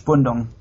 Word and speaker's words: Spundung: can pronounce it myself, spunding? Spunding. Spunding. Or Spundung. That's the German word is Spundung.